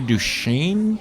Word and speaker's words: Du Chien: I'm going to Prairie du Chien. Nice. I don't know how to pronounce it.